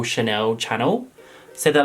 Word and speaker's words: Chanel: like how do people not know that it's Chanel like that's pronounced Chanel like it's renowned for being pronounced Chanel but people pronounce it Channel and it's not even like an accent thing